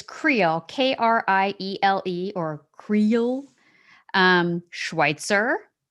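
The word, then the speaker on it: Kriele: french like yeah i know this one is pronounced it's it's creole k-r-i-e-l-e or creole um schweitzer gamble which you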